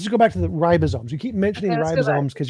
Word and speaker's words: ribosome: So, why did you say ribosy? Because ribosy is is like a like a type of lime drink.